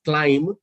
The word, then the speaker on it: climb: so what you're talking about is when you pronounce the word climb so you in place of climb in place of b you read it as